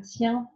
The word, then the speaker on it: tiens: A bit tricky to pronounce, but if you know how to say the word dog, chien, you'll have seen that I-E-N, E-E-N together, and you always pronounce it I-E-N. So, je tiens à toi.